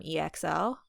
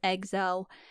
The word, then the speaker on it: EXO: X-O running it back I remember when we used to call them EXO did we really yeah like BTS EXO and because they say it that's how they say it in their song okay so that's right